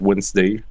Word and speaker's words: Wednesday: not logical at all there is many many uh silent letters like in the word wednesday wednesday and yes in